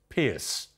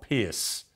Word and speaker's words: Piers: you calling tyus trus Pierce uh well Brad uh it's Tyrus for one not tyus it's not trus I never said that and it's Pier not Pierce so you were three